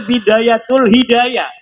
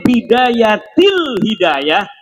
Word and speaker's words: Bidayatil Hidayah: Karena deke maca Bidayatul Hidayah. Harus sebah dibacanya Bidayatil Hidayah karena anak huruf jerbe.